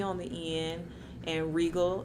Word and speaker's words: Regal: on the end and regal as in royalty not the buick don't get it twisted